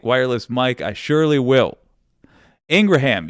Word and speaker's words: Ingraham: mic I surely will Ingraham yes apparently that is how you say I've been saying Laura Ingram but apparently according to her brother that is how you say the last name and as much as